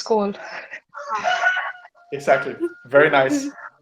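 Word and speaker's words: skål: but any oh this this uh a letter with the dot on top is pronounced oh so any suggestions go skull it's cold exactly very nice it's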